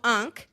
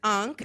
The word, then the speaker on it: unc: Okay, so unk, the word is unk. It's spelled UNC, short for uncle.